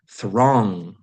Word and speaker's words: throng: Throng. The G is silent.